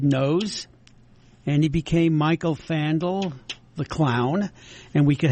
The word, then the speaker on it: Fandal: He pronounces it Fandal.